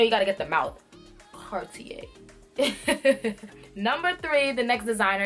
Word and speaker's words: Cartier: the second designer we're gonna get into is Cartier Cartier so let's pronounce it together car T a put it